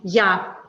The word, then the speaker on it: я: Ya. And it's very interesting that it is pronounced the other way around. When you say it's in English, it's I. But when you say it in Russian, it's ya.